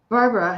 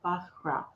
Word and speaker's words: Bara: Bahra. Bahra. Am I saying it correctly, Bahra? Is that anywhere close? Oh, you're welcome, Lucy. I think I've been mispronouncing your name, but I think it's Bahra.